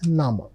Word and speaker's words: Name: Look at the spelling. It's written just like English word name but the pronunciation is nama.